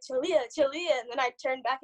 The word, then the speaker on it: Chaleuh: how do i say this and i'm like julia julia and then i turn back and be like